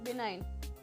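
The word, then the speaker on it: benign: Question number 28 इज बिनाइन। इसमें जी silent है, बिनाइन।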